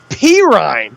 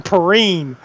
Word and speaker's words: Perine: back's name s Pine perine we had been calling him Pine for the first two three weeks yeah you did it